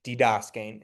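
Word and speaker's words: διδάσκειν: So this one will be didaskein. But then you're putting the accent on the Sorry, I was saying that to emphasize what the diphthong was, but yeah, it would be didaskein if you want to say it with the accent.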